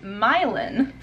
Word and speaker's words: Milan: minutes south of berlin we went up to milan which we just found out by talking to the guy that works the front desk at the motel here that is pronounced milon so that's kind of interesting but i kind